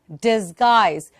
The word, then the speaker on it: disguise: And also, where do you have the I sound in the word disguise? The I sound, is it in dis or guise? Where is it? It's in guise.